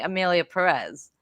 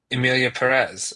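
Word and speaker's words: Emilia Pérez: you said it right Emelia Perez it's it it's just like saying it a little differently because it has that accent over the E I heard I've heard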